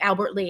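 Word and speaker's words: Albert Lea: lee or the city how do you say it albert lee albert lee and spelled l-e-a so i i was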